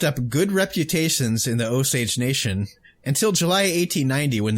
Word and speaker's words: Osage: police force in the osage i looked it up and that's how it said it's pronounced but i'm still not convinced but anyway the osage